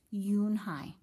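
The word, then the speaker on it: Unhei: Kim then turned to Joey she nodded slowly yes it's pronounced you and I and it means grace mr.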